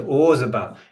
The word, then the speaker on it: Roland Orzabal: Roland Orzabal. Is that how you pronounce it? Roland Orzabal.